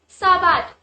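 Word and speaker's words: sábado: Now you must notice that on the 'A' there is a tilde accent as well as when we spell 'a', it is stressed a bit. So, it will be Saab-aado,double stress on the letter A.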